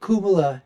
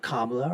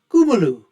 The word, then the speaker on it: Kamala: there's no way that Kuma haris and that is the way that her name should be pronounced I've T been told by Indian folks it's not kamla or Kamala it's kumu anyways whatever however you